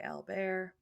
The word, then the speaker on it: Albert: by he went by Al bear which is a Frenchy way to say Albert um but eventually he